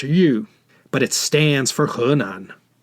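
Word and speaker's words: 豫: plates and whenever you see this character it's pronounced you but it stands for hernan after the fall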